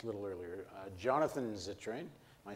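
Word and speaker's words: Zittrain: were at just a little earlier uh Jonathan zitrin am I saying it right yep he is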